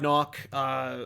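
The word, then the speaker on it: Nauck: story Ralph Macchio Todd knock or now I don't know how to pronounce it I always pronounce it knock but he has a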